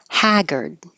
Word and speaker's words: haggard: say apricot or apricot Haggard definitely an a vowel open lot hag she looked Haggard and